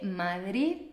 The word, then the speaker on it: Madrid: por eso la gente de España dice Madrid Madrid pero los italianos dicen Madrid Madrid veis que la de es mucho más fuerte no aquí la d es suave Madrid y además si